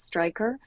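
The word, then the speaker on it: Straiker: Stryker is spelled with AI in the middle of it. So Stryker, if you were to do it phonetically, but I think they pronounce it Stryker.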